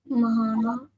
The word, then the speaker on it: Mahana: Mahana. Mahana. Well done. Right. We pronounce the ma fully. So ma, you pronounce the ha and then the na and the ha are connected.